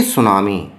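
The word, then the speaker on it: tsunami: ए सुनामी, यहाँ देखिए सुनामी की स्पेलिंग है, टी से शुरू हो रही है, लेकिन यहाँ टी साइलेंट है, इसलिए इसको टी सुनामी की जगह बोलते हैं सुनामी।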